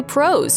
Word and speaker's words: Prowse: Shaw appeared as the unmasked version of the character after taking over the role from David Prowse . Prowse had portrayed the character on-screen until that point, with James Earl Jones giving the villain a voice.